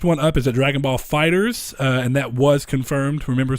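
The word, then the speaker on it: FighterZ: done the next one up is a Dragonball Fighters and that was confirmed remember Saul told you I was right that's how it's pronounced fighters not fighters II even though I'm sure that people are gonna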